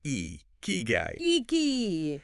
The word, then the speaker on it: ikigai: any further yeah uh let's just get the pronunciation down iy guy it's e key guyy Tomas shiru even suggests